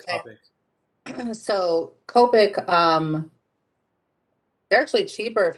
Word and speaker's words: Copic: went yesterday to blick and that they're it's copic right yeah that's how they pronounce it i've always said copy so copic um they're actually cheaper if you buy them